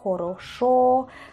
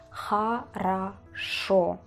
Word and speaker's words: хорошо: Algunos se pronuncian jaros jorosa, joroso. No se pronuncian de ninguna de estas formas, sino que se pronuncia jaraso. Jaraso, jaraso. Jaraso. Acento en la última letra, es decir, jaraso. Y usamos a en lugar de o.